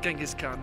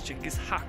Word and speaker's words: Chinggis Khan: Not Genghis Khan, that's not how he pronounces it, it's Chinggis Khan.